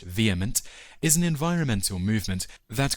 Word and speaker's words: VHEMT: The Voluntary Human Extinction Movement or VHEMT, pronounced vehement, is an environmental movement that calls for all people to abstain from reproduction to cause the gradual voluntary extinction of humankind.